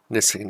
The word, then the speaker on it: knitting: Magnifying glass, knitting needle. Knitting needle contains a letter that you don't say.